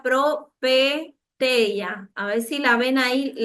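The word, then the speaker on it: προφητεία: La palabra griega profeteia se pronuncia propeteia.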